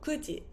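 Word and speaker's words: 九時: Number 9 we would usually say, or we would say ku, so kuji, 9 o'clock. Kuji desu, it's 9 o'clock.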